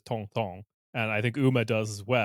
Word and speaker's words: Tintin: Tintin. Tan, I don't know. Tantan. Tintin. Yeah. See, I hear it when a French person says it, I hear it as tong tong, and I think Uma does as well.